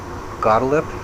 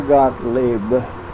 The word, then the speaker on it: Gottlieb: Brother Gottlieb? How do you say his last name? Theodore Gottlieb.